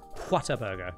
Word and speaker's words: Whataburger: It's Whataburger. Like, oh wow, what a burger.